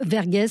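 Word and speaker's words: Verghese: une saga magnifique le pacte de l'eau d'Abraham vergess ça s'écrit V r G H e s et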